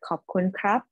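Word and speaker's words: ขอบคุณครับ: Okay, so in Thai, you have to say it like perfectly in the right tone. So just say khop khun ka or khop khun krap.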